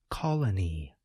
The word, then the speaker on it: colony: Note that the second letter O, the one that appears toward the end of the word, suggests this vowel sound, uh. We call this the neutral vowel sound.